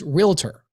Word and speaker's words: realtor: how many of you agents think that it's pronounced realator it's realtor okay or licensed real estate agent or if